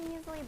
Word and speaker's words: muesli: But yeah, muesli.